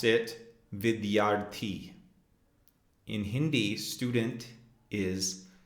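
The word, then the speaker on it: विद्यार्थी: Our next vocabulary word is student, and we would pronounce it vidyaarthi. In Hindi, student is vidyaarthi.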